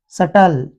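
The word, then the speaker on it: subtle: होना चाहिए एम बी वैसे ही यदि बी के बाद टी आ जाए तो बी को नहीं पढ़ा जाएगा जैसे डाउट तो बी को नहीं पढ़ा जाएगा सटल बी को नहीं पढ़ा जाएगा क्योंकि इस वर्ड में बी के बाद टी आ गया जैसे य बी के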